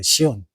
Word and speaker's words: 시온: 자이언 캐년은 그 라틴어 발음으로 그대로 읽으면 시온이에요. 시온.